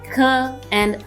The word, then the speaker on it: ka: A mix of K and H. Ejemplos. Examples. Jirafa, jirafa. Jabón, jabón. Let's repeat. Jirafa, jabón. Letter K is pronounced as Ka, Ka.